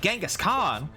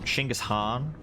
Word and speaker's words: Genghis Khan: for shooting genghis khan although as i understand it shouldn't be pronounced that way isn't it true that's what they pronounce like chingus or chingus han something along those lines i've been told before by people who know better than me that that pronunciation is is more accurate to how it would have been said at least nice um